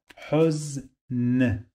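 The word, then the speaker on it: حزن: Huz, I have here Sukun, so the end of this syllable must have a consonant sound. Huz, Huz, Huz, Huz, Huz, N, the sound of N in the end.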